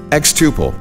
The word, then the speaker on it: xTuple: xTuple rhymes with quadruple and means to grow exponentially.